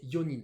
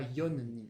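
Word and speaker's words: 四人: Attention, pour 4, c'est yonin. Voilà, ici aussi, on a une petite particularité de prononciation. C'est pas yonin.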